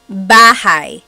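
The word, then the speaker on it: bahay: B but in talog the a y combination makes an i sound sound b b so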